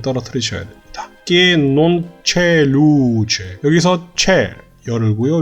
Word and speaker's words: luce: Que non c'è luce. 여기서 c'è 열고요. 루 할 때 루는 완전한 우 발음으로 입을 모아서 이렇게 어둡게 우 발음을 해주셔야 됩니다.